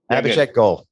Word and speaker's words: Abhishek Goel: Today we have Abhishek Goel. Did I pronounce your last name right? You did. Abhishek Goel.